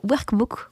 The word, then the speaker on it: workbook: Grâce à ce workbook, j'ai tendance à dire workbook, quand tu le phonise, je le prononce plus, on va dire, en prononciation française avec un R et pas un R roulé, bref.